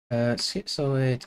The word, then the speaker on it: schizoid: Schizoid adjective denoting or having a personality type, characteristics, of solitary habits. It's pronounced the same as in schizo. Okay, it's schizoid.